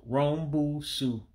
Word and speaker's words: rombusu: So this three syllables, rombusu is rhombus.